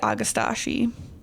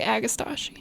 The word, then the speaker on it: Agastache: Like I say Agastache. And I say Agastache. And some people say Agostiki.